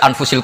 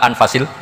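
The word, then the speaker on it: أنفس: bacaan Saya di sini ditulis anfusil kutub saya baca anfasil kutub karena maknanya kitab ter baik Kalau kitab terbaik bacanya bukan anfus tapi apa anfas ya nanti kamu debat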